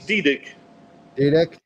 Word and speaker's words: Didyk: fun to be with uh spell your pronounce your last name art I don't want to blow that it's dii dii and I got vinon papuchi papuchi and again